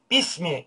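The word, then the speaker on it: بِسْمِ: buradaki Hemze vasıl hemzesi yani yazarken vardır ama okunuşta söylenmez Bunlar vasıl hemzesi olarak geçmekte mesela Bismi derken besmelenin başında Bismi derken Aslında onun Aslı da bir ismidir Bir ismi ama okurken Bismi diye okunur yine vasıl hemzesi olduğu için bu şekilde okuruz Bununla ilgili konu daha ileride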